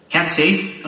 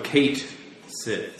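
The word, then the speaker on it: Cait Sith: I always pronounce that's it what Kate Sith. I did say it. Cat Sith? Oh. No, Kate Sith. C-A-I-T.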